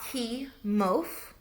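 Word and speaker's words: Kimov: that I butchered it, but I think it's a key mof. It's a k i m o v effect is validated.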